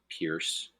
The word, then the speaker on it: Pierce: with Franklin Pierce um we too said Pierce because it rhymes with Fierce uh we were right